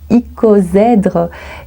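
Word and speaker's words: icosaèdre: groupe numéro 3 alors ce mot se prononce icozère et ça veut dire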